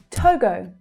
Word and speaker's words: Togo: Togo, Togo. So we have the same vowel sound that's repeated. It's the O as in go sound.